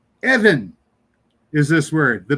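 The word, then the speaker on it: אבן: When it doesn't have the dot in the middle, it's pronounced with a V sound, but they would spell it with a B. So, it it's just weird. Anyway, Evan is a stone.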